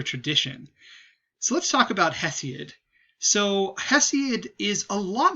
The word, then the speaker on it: Hesiod: and it is by a guy named uh hesiod um sometimes i call him he see it but hesi is the better pronunciation for that um so let's zoom in